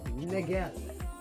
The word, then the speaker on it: Niguel: It's pronounced like Miguel, but with an N, Niguel.